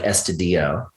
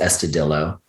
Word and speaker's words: Estudillo: and it was, and I think it should have been like Estudillo, but everyone pronounced it Estudillo.